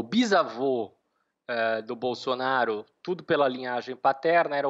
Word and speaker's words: Bolsonaro: se deve sobretudo porque na língua veneta eles não eles não pronunciam esse bolsonaro como seria no italiano standar o italiano padrão eles tendem a fazer SS mais suave mesmo do bolo sonar então isso tem a